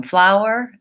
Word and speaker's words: flour: sound flower flower yeah so even though they're spelled differently most Americans will say those two the same flower and flower I went to the store to buy some flour and some flowers very